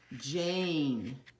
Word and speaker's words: Jane: the first one is a silent e word so the girl's name is Jane I know you some of you were reading it as Jan but remember the e doesn't make a sound but tells the a